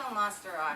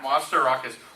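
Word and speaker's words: Mastorakis: Nico Masterakis. Masterakis.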